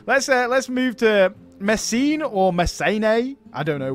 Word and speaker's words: Messene: Yeah, I think the second E is long, if I'm not wrong. So it would be something like Messene or something like that.